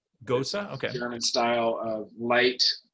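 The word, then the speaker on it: Gose: varietal's been working on a goes is that pronounced it goes like beer g-o-c we the people say gosa gosa okay german style of light uh sour salty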